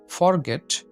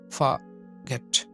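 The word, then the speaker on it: forget: ১৪ নম্বর এটার আমরা উচ্চারণ করি ফরগেট। ফরগেটের পরিবর্তে এটার সঠিক উচ্চারণ হবে ফাগেট, ফাগেট, ফাগেট, ফাগেট।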